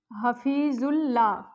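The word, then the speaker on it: حفیظ اللہ: यहां पर भी अलिफ और लाम साइलेंट आएगा। हफीजुल ला।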